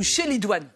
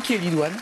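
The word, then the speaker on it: chélidoine: Kélidouane ou Chélidouane? J'accepte les deux. On dit Kélidouane, mais ça s'écrit Chélidouane. Et 3 points, Martine.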